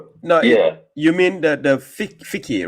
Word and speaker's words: fiqh: Yeah, thick. No, yeah. You mean the fiqh, right? Fiqh. Yeah. It sounds like the word like fig, but it's not. It is spelled FIQH.